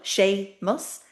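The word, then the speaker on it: Séamus: So for example, sheamus, a masculine name, shame. Two syllables, two beats to the word. It's stuck together. The m the consonant is in the middle. Sha mus.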